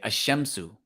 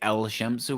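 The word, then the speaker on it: الشمس: Okay, so we're not going to pronounce the lam. We're just going to say ashamsu. We're not going to say el shamsu.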